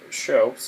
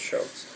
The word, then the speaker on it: scops: seashore all right so shopes it looks like scops but I believe that it is pronounced shopes um shopes were singing